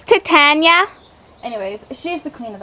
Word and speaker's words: Titania: It's Titania.